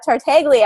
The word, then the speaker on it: Tartaglia: So give it up for Tartaglia. I hope I'm saying that right. Whoop, whoop. Thank you so much, Tinya. And yes, you're saying it right.